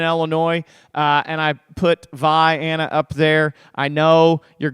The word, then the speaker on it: Vienna: like that in Illinois if you're from Illinois it's VI Anna whenever you take your